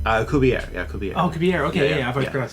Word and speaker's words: Alcubierre: And the first part of that is the Alcubierre, and we're playing Act 1, The Lost Ship.